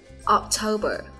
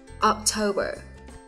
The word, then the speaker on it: October: 4 tháng cuối năm thì đều tuân theo quy luật là có 3 âm tiết và trọng âm nhấn vào âm tiết số 2 nhé.